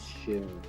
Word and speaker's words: Seun: I have a young man here that his name is Sheun. Sheun. Mm-hmm. Sheun is spelled Seun.